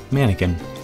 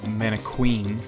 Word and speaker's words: manakin: talking about the redca mannequin yeah mannequin bird not a man Queen yeah like like the the just the creepiest thing ever yeah like a cousin of a piece of bread mannequin what it's spelled like that like Mana from Heaven kin k i n oh the